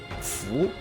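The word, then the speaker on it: 蝠: From a superstitious point of view, bats are culturally considered a lucky symbol, as the word for bat, fu, has the same pronunciation as fortune.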